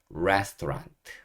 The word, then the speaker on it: restaurant: R-E-S, rest, T-A-U, 도, 그다음에 R-A-N-T, rant. 그래서 restaurant. restaurant.